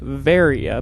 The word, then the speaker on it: Varia: and it is pronounced varia because varia is actually a mistranslation of barrier it was originally intended